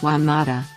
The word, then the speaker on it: Juan Mata: one Manuel Mota Garcia Spanish pronunciation is Juan Mata born April 28 1988 is a Spanish professional